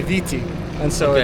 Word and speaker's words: Viti: but in the Tonga language it's pronounced Fiji, Fiji, and here they say Viti, and so Okay.